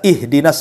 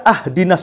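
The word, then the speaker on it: اهدنا: Contoh umpamanya, kita baca ihdinas siratal mustaqim, kan gitu. Kita baca ahdinas siratal mustaqim. Harusnya di kasrah, kita fathah pula tuh. Harusnya ihdinas siratal, kita katakan ahdinas siratal.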